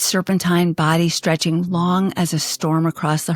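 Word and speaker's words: 龙: It is a long, the Chinese word pronounced simply as the English word long.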